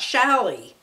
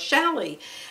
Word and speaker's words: challis: she's always talking about shally i've never bought shall i number one i never knew how to pronounce it it's c-h-a-l-l-i-s and and i used to think well what is that chalice when what kind of fabric